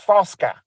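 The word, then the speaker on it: Fucka: f-u-c-k-a but yep but the why it was pronounced is foska because it was not an Olympic he was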